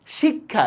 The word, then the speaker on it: শিক্ষা: দেখেন শিক্ষা, দেখছেন এই যে ক হসন্ত খয়াকার, শিক্ষা।